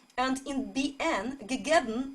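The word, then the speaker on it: געגעבן: Not only bn will be a separate syllable, you also close your mouth, so instead of bn, you read bm, bm.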